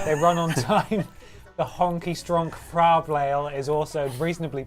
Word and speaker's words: Honkai: voice he said no he said it wrong it's honky how much money did